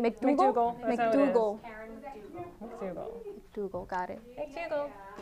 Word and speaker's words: McDougal: Cohen confirmed that Trump directed him to pay off Stormy Daniels and Carrot how do you pronounce that name? McDougal.